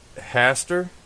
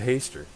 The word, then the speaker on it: Haster: so so it's pronounced Hastur yes okay I was I was making the a long so I was pronouncing it incorrectly you mean I said hey stir Oh oh nice no